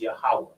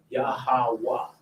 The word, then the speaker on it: Yahweh: So if you want to go back to the ancient biblical translation of God's name, it's Yahweh. Yahweh. And it's pronounced with like a breath of air coming out. Yahweh.